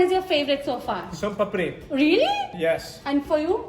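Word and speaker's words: Soan papri: Son papdi. Son papdi. Papdi. Som papri.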